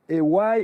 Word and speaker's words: Aywaille: Aywaille et a prononcié pour vraiment dire aywaï et pas Hawaii ça n'a rien à